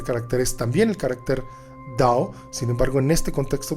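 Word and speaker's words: 道: el nombre al libro se pronuncia dado lo escribo como está o porque así se escribe y significa también camino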